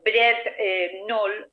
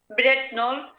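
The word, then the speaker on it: Brent Knoll: ver, como por ejemplo Bret Knoll, o se escribe Bret Connell, con una K de kilo que no se pronuncia. Bret Knoll es la colina o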